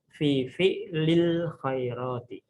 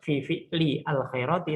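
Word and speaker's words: في فعل الخيرات: Makanya kita membaca fi fi'lil khairati. Bukan fi fi'li al khairati, tapi fi fi'lil khairati.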